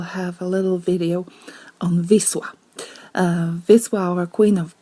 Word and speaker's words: Wisła: the Polish language basically our W it's pronounced V and then if you have the L with a little line with a little slash it's actually pronounced as W so when you see